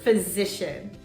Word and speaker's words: physician: When the P comes before an H, the pronunciation is F. For example, phone, phone, or dolphin, dolphin, nephew, nephew. Phyllis phoned her physician.